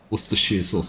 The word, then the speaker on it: Worcestershire: Poor Farmer Ben's just come into chat just to tell me how to pronounce Worcestershire. Worcestershire sauce, thank you.